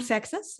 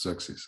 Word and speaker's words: Xerxes: So in German, yes, it's Xerxes. Xerxes, in English, it's Xerxes.